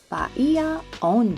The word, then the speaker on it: Bahia Honda: history of the old Bajia Honda bridge. Although you'll most often hear Bajia Honda is traditionally pronounced Ba on.